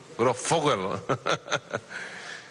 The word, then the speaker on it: Grosfoguel: ¿Cómo que se pronuncia tu apellido bien? Grossfogel.